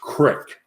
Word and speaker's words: creek: giving her but then it's uh pronounced crick not creek yeah it's creek go